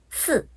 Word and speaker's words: 四: 看看四声，汉语呢是四四，韩语里面是四四，怎么样？